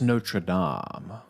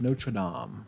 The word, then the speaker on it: Notre Dame: But Trey says it's pronounced Notre Dame. Obviously, you didn't know that, you absolute swine. So you should know that. Notre Dame.